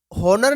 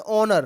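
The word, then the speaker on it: honour: इसको देखो जरा, अब इसमें से क्वेश्चन बनता है कई बार, इसको हॉनर नहीं पढ़ते, इसको पढ़ते हैं ऑनर।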